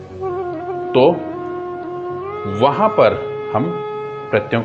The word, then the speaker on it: क्त्वा: इसमें आधा कै का भी उच्चारण है त्वा। कई जने इसको कत्वा बोल देते हैं, जो बिल्कुल गलत होगा।